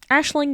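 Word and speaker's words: Aisling: Uh we are back at the the Ashling Cathedral. Um which is spelled Eling or Eing. Yeah, Ashling it is though.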